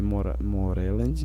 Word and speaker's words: Moreland: Moreland, né? Que a pronúncia em inglês é J.P.